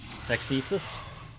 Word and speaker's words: Nixnecis: Or Nixnecis. I always put a hard C on because I took Latin in school.